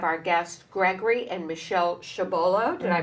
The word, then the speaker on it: Chabolla: And we are back, and as promised, we have our guests, Gregory and Michelle Chabolla. Did I pronounce it correctly?